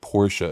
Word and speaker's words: Porsche: to call it a porch, I don't give a Like but when I but when I was younger as a journalist it was like that's the right like Porsche is the right way to say the word.